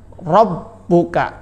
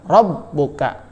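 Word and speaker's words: رَبُّكَ: ya cara bacanya adalah Robbuka Double B ya b nya ada dua sehingga ditekan cara bacanya Robbuka ditulis pun sama Robbuka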